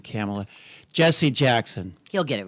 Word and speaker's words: Kamala: this time I've been saying it wrong it's it's it's camela about these people who